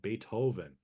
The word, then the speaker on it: Beethoven: Hoven h o b n right but we pronounce it uh Beethoven right but you can say beatoven as a